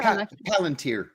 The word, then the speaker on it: Palantir: Palantir? Is that how you use Palantir? Palantir.